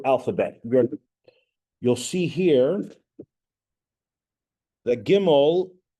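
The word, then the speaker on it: גימל: We're going to do the next letter is called Gimel. Gimel is the next letter in the Hebrew alphabet. You'll see here that Gimel, they're trying to associate with glamorous Gimel.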